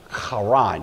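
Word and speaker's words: Haran: and it's usually pronounced Quran you've got a growly H there this was a major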